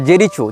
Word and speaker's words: Jericho: लेकिन इजराइल हो या फ़लस्तीन हो, इसने जेरिको या जेरिचो, जो भी इसका उच्चारण भाषा में किया जाता है, JERICHO, जेरिचो या जेरिको, जहाँ तक जेरिको होना चाहिए उच्चारण, ये फ़लस्तीन का प्रांत